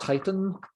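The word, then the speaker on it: Tyton: is called titan now i'm sure it's supposed to be pronounced titan but uh it is appropriately misspelled as t-y-t-o-n so your teaser you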